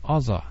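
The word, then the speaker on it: עזה: the same place because in the Hebrew it's pronounced Aza and most people think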